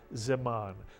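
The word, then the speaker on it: זמן: And the second syllable would be ziman, mitsuyan, ziman, not zi. Man, but zeman.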